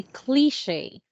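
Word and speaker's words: cliché: I just wanted to correct your pronunciation with the first word in here. Okay, you have to say cliche.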